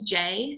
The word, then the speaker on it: Jae: Look, like my middle name's Jay, so it's spelled Jae. It's a little bit different to classic Jay.